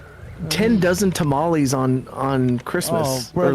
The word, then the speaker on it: tamal: Say it like a true Mexican. Tamal.